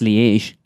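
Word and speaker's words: Liège: Belgium, we have Belgium lege waffles. That's lege, is it?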